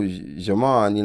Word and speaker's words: Djimon: So, J.Imon, like we said, we were talking about your name. I know you get that a lot. People, screw it up because the D is silent.